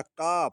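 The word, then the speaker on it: calf: अगला काफ इसको काल्प नहीं पढ़ेंगे क्योंकि एफ के पहले एल आया है।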